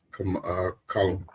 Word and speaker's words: Kamala: Here's a question though: all of these, let's say, new supporters of Kamala. Pronounce her name?